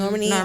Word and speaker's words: Normani: We have like Normani. Is that how you say her name? Yeah. Mm-hmm. Normani.